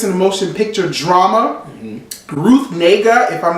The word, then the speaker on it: Ruth Negga: Ruth Negga, if I'm not mistaken, that's how you say her name.